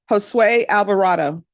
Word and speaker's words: Josue Alvarado: Josue Alvarado. I pronounced it correctly.